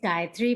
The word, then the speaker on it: Gayatri: we have bill pauling gayatri am i pronouncing it correctly it's dietary but you can call